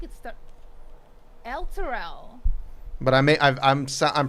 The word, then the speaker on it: Elturel: Luttrell. Luttrell. The locals call it Luttrell. Tourists call it Elturel.